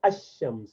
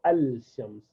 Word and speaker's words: الشمس: are shamsi letter, because for shams you say ash-shams, you do not say al-shams.